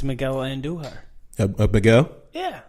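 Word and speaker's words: Andújar: So it's Miguel, how you pronounce the last name? Andujar.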